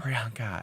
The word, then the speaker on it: Priyanka: Canadian on the show say my name prianka Priyanka as well as Sasha Valour Jada Essence Hall